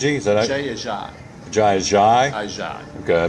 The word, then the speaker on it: Ajayi: game up there against them the first time, JG, is that it? Jay Ajayi. Ajayi? Okay, I mispronounced it.